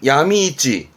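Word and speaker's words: 闇市: 발음은 야미이찌 뜻은 그렇죠.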